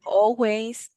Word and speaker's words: always: always always remember that we don't say the L ah okay okay I always exercise on Saturdays I